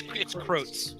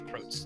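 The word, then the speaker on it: Crotz: I thought you said Crux the first time. That's what I'm making sure. I'm sorry, it's Krotz. I'm sorry, it's Krotz.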